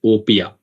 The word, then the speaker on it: OPEA: into Opia right away we call it Opia op E A the pronunciation is Opia uh people call it in different ways but the right way that most of us call is Opia and it is from